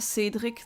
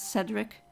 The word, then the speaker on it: Cedric: I pronounce it that Cedric that's the French pronunciation but you would um know it as Cedric there's a lot of